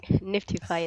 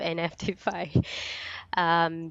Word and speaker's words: NFTify: Well, thank you first of all for pronouncing it right, Niftify instead of NFTify.